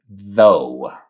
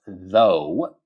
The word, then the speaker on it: though: So, it's pronounced though. So the G and the H are silent, right? And it's a deep deep O sound, right?